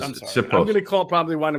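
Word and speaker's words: Siposs: Sipos. Yeah, that's how you pronounce it. Sipos.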